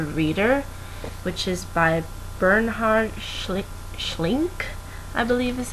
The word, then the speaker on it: Schlink: novel called The Reader, which is by Bernhard Schlink, I believe is how you pronounce his last name.